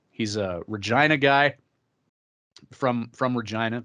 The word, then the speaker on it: Regina: He's a Regina guy from Regina, the city of Regina. Just for our American friends there. The city that rhymes with fun.